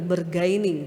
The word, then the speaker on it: bargaining: yaitu bar semoga bacanya benar ya bargaining atau bergaining benar ya yang jago bahasa Inggris Mbak Mima benarkah atau Mbak Diva benar cara bacanya apa, Mas? Bergaining. Wah, ahlinya ya bergaining.